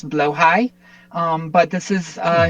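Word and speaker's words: Blåhaj: This is um, as far as I am not Swedish, I'm fairly sure the pronunciation is blowhigh.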